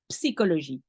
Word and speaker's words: psychologie: And pronounce psychologie. You pronounce the P and the S.